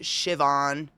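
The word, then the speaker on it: Siobhan: sibo Hannon mishy yeah sioban that one is pronounced shivon but it's like sioen yeah there's some cool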